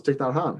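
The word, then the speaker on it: Thích Nhất Hạnh: just as basic as learning how to pronounce ticknot han. Like seriously. Yeah, man. You look at that. How do you say that? Well, it's ticknhan.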